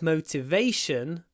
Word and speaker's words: motivation: I lack motivation to study. So, to motivate, on the first syllable, motivate. Remember to put a w in there. Motivate. But motivation. Motivation on the A.